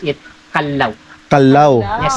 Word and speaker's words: Callao: sa sir ganito po don't be confused some tourist they pronounce it ciao ciao is Spanish word the peaceful and Quiet Village po siya second one We have a cala kalalo is a kind of bird or the rufus horn build of kalal and then Iyung proper correct pronunciation natin Much better to pronounce it Kalaw Kalaw not kalo not kal It's kal Kalaw Okay so